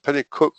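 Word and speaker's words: Pennycuick: this is the auctioneer Penacook is pronounced penicuik Collins and they assured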